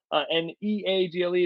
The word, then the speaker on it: Neagle: You can find me on LinkedIn, Neagle, Neagle. It's spelled like beagle, but pronounced like bagel, so you know.